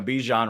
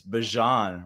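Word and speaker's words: Bijan: going to go with it's not even, you know, Bejian Robinson anymore. It's Bjon Robinson.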